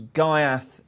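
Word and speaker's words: Ghaiyyath: get the market because gaiath is the am i pronouncing gaiath right there by the way enzo i think we had somebody explain the proper arabic pronunciation sort of hereth or something but i don't think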